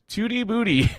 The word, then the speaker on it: Tootie Booty: Tootie Booty in the jungle role. Yes, that is their name, and that is how they wish for us to pronounce it.